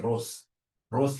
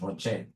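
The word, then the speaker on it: ROCE: whenever I see Rocher please don't pronounce this as Ros is my sister Ross is your mother professionally we pronounce this as Rocher whenever I see this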